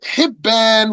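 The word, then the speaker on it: حِبّان: And like Hibban with the kasra on the ha and Habban with the fatha on the ha.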